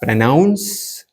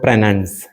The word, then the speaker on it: pronounce: Pronounce or pronunce? Pronunce? Good question, Hashim. The correct way to say it is pronounce. The stress is on the second part.